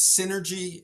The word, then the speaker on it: Cinergy: So the company is Cinergy Spaces, and Synergy is spelled like cinema. So it's Cinergy.